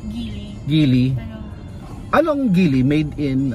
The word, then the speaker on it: Geely: Sumulong Sa gily Sumulong ano ano pronunciation gily based sa search ko po is gily gily Anong gily made